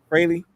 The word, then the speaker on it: Fraley: Fraley.